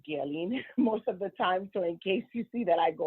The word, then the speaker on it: Guerline: um my name is uh girlin um pronounce guelin most of the time so in case you see that I go in and out and say instead um I am originally from Haiti I'm